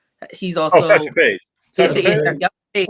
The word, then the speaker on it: Satchel Paige: Also, I'm gonna get me a Sanchow Page card if I'm pronouncing his name correctly. He's Oh, also Satchel Paige.